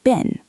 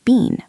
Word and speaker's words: been: Oh yes, in British English, it's usually been, by B-I-N, and in American English, it's often been, by B-E-N-N.